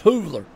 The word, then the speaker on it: Hoovler: I call him Hoover, but it's Hoovler.